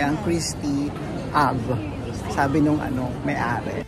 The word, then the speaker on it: Christy: Hindi nang ganon daw i-pronounce e ang Christie av sabi nung ano may-ari. How do you pronounce your last's name? Pronouns as Christi Christi?